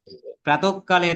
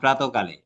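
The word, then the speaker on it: প্রাতঃকালে: ঘটনা ঘটেছে না আমরা বলতাম অতঃপর তাই না প্রাতককালে তার সাথে আমার দেখা হয়েছিল এরকম বলতাম না আমরা বলতাম প্রাতকালে শব্দগুলো খেয়াল করেছো ইতপূর্বে আমি এ কথা অনেকবার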